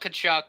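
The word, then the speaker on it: Tkachuk: trades because he often forbade yeah so walt cachuck it's t k a c z uk there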